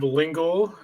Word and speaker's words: Lyngle: Uh my name is Jacob Lingal. It rhymes with uh Chris Kringle for you older people out there.